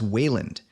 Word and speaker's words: Wayland: different spellings of a name that we generally pronounce as Wayland.